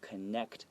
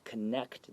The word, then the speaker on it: connect: So first, try to imagine it without the T. Connect. And then add a little small T at the end. Connect.